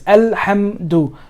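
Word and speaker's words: الحمد: Like try not to, what I'm trying to say is try to emphasize alhamdu. You're hitting the letter, right? This ha is hitting the meme. Hamdu.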